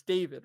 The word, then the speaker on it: D4VD: So it's David, right? That's how you pronounce it.